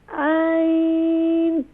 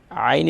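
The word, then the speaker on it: عين: میم عین پیش مو. Ayn is pronounced more properly please.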